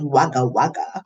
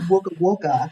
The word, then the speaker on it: Wagga Wagga: And so Wagga Wagga, I read it as it was Wagga Wagga, but that's Ah, not how you say it, it's Wagga Wagga.